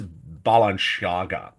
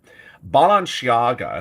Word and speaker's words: Balenciaga: images that's how horrific they are what is Balenciaga balanciaga if I'm pronouncing it right is a fashion house and